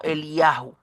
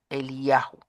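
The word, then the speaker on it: אליהו: significa e bueno el nombre en hebreo se pronuncia algo así como el yahu ya el yahu Y ese yahu es el nombre de Dios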